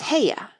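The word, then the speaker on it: Haigha: does them when he's happy his name is heya he pronounced it so as to rhyme with mayer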